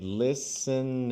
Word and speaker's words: listened: So there's a tendency by Brazilian English speakers to say listened and Listen. add an extra. But remember, when do we add an extra syllable?